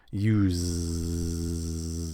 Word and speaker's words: use: also we use and something use a spelled with an S it's spelled with an s however it's pronounced like a z about half of the s's in English words where it's spelled with an S about half of those s's are actually pronounced as Z's it's a voiced sound use you have to